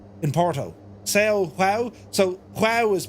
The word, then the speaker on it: João: So João is pronounced, well, it's pronounced João, because I knew a dude from Portugal and his name was João Vieira.